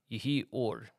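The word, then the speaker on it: יְהִי אוֹר: said light be uh ye or is how you say that in Hebrew ye or let there be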